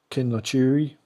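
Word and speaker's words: Kinlochewe: Here we are, Knockan Crag, Ullapool, Gairloch, Kinlochewy, that's how you pronounce it.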